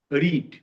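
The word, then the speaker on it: read: এক থাকে যেমন দেখ আরডি রিড পাস্ট টেন্সে আরডি রেড পিপিতেও আরডিরে তারানে উচ্চারণটা আলাদা হচ্ছে রেড রেড এই ছোটখাট ব্যাপারগুলো তোমাকে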